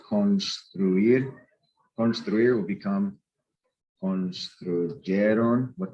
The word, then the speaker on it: construir: Any verb that ends in UIR, not GUIR, but UIR, where you actually pronounce the U, like construir.